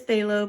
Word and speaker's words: phthalo: that I use but you can see how it's spelled PTH alo alo blue and single blue is a little bit brighter so this is phthalo blue and this is